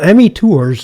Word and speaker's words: ME Tours: Well, ME Tours is... ME Tours. Yeah, is the way I pronounce it, because it's somewhat about me, because that's who I know the best.